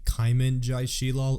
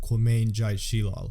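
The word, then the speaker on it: Qymaen jai Sheelal: real name way off it's actually caimen joy she'll all and not co-main joy she'll all anyways I hope you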